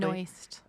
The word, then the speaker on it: Benoist: Yeah, so we learned last week that Melissa Benoist, did I pronounce her last name correctly? Benoist.